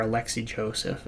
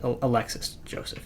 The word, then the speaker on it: Alexis Joseph: So, yeah, for the most part, the um the trend was go for, you know, an Alexis Joseph or Alexi Joseph. Alexis Joseph is how you say his name.